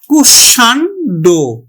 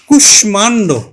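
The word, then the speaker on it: কুষ্মাণ্ড: এটির উচ্চারণ হবে কিন্তু সংস্কৃতির যে নিয়ম সেই নিয়ম অনুযায়ী। তাহলে উচ্চারণ হবে কিন্তু কুশ মানড। কুশমান্ড উচ্চারণ হবে কুশমান্ড।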